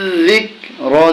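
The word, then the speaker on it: ذِكْر: জালেদ জের দিয়ে কাফকে ধরলে হবে জিক তাইলে উচ্চারণ হচ্ছে কি জির জিক র জেরি জির জিকরি যখন আমরা এখানে ওয়াকফু করবো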